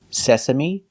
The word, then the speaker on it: sesame: They all end with an E that makes the same sound, the long E sound, like green beans. Recipe, coyote, sesame, adobe, karate, apostrophe, catastrophe, and acne.